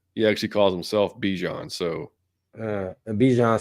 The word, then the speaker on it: Bijan: You've now added Bijan to it, Which, by the way, if you saw his interview, it's actually supposedly pronounced Bijan.